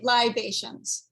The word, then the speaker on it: Libations: Is it Living Libations still, or libations? Would you spell it Libations? Kind of like vibrations. No yeah, no R. Libations. Okay.